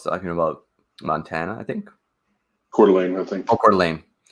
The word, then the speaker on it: Coeur d'Alene: Coeur d'Alene, I think.